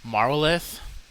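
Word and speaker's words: marwolaeth: I believe it's pronounced Marwoleth. It's essentially the Welsh word for death.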